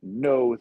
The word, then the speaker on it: Noh: um for a a no theater and it's it's not spelled no as in yes and no it's spelled no so it's no theater